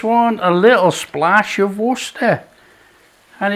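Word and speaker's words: Worcestershire: There's some serious sourness going on here with the um Dijon mustard, the worester sauce, and for all you people want to say it properly, worersha sauce and the tomato puree.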